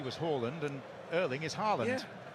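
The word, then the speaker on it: Haaland: He was asked to pronounce his name for the World Cup authorities and he said, "My name is Erling Holland as his father's was."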